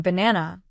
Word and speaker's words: banana: In banana, the second syllable is stressed.